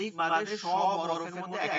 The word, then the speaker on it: বা: আলিফ, আলিফ, বা, বা হবে শুধু দুই ঠোঁট থেকে।